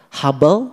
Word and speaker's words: Hubble: Hubel itu tali. Ada teleskop hable buatan Amerika. Yang membuat teleskop itu adalah Mr. Hubble. Ditulisnya Huble. H U B L E. Huble. Dibacanya hub.